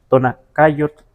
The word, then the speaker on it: Tonacayotl: de tonaca, solo que la TL se pierde.